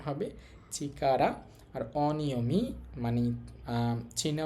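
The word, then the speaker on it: 力: এই কাঞ্জিটার কুনিয়মী জাপানি উচ্চারণ হবে চিকারা। আর অনিয়মী মানে চীনা উচ্চারণ হবে রেকু এবং হচ্ছে ঋকি দুইটাই হইতে পারে।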